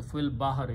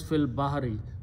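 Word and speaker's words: في البحر: So fil bahari, you don't pronounce this alif after that. It becomes hamzatul wasl. So final word is fil bahari. Ya'amaluna fil bahari, they used to work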